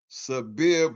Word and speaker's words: Sabir: He said it's pronounced Sabir, bro. All right, Sabir.